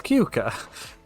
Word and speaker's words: Keuka: It's Keuka.